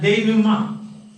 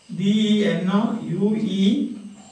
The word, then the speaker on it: denouement: And we said there is a term for that, denouement. D-E-N-O-U-E-M-E-N-T. Denouement. This pronounced like that.